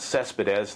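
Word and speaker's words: Céspedes: Hitting-wise, the mystery man, Yoenis Cespedes, that's the way it's pronounced, he's kind of the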